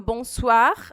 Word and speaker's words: bonsoir: Como é que a gente vai pronunciar esse OI? Vai ser um UA. É um A bem rapidinho, igual o UAI mineiro, assim, que você não fala UAI. Não, não é separadinho, é UA, UA.